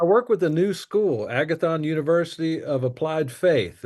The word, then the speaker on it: Agathon: That spell it for us. Agathon's a Greek word for good, and it's Agathon.